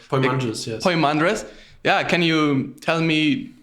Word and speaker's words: Poimandres: i would say yeah i think it's pronounced poi madrest or poem andres yeah can you tell